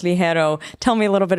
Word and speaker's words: Ligero: of the name I always thought it was liero it's it's with a g in the middle so I recently learned it's actually pronounced Le hero tell me a little bit about the name